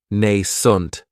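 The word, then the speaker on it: nascent: It has the long a sound nent. That second syllable has that schwa.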